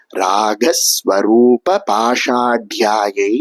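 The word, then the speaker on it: रागस्वरूपपाशाढ्या: இந்த நாமத்தை எப்படி உச்சரிக்கணும் அப்படின்னா ராக ஸ்வரூப பாஷாட்யாயை நமஹ அப்படின்னு சொல்லணும். ராக அப்படிங்கிற வார்த்தையில வரக்கூடிய க சமஸ்கிருதத்துல மூன்றாவது கவா இருக்கு. பாஷாட்யா அப்படின்னு சொல்லப்படக்கூடிய இடத்துல அந்த இட்டு நாலாவது டா வா இருக்கு.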